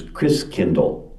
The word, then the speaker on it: Christkindl: And the German pronunciation of Christ child is Christkindl. Like kindergarten, kindercare, kind means child, and Chris is Christ.